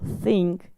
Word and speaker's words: think: Entonces, si tú no vas a pronunciar bien este sonido y vas a decir I think, s es totalmente otro verbo, think y s.